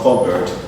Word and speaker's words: cupboard: It's silent in cupboard. It's called cupboard. The P is silent there.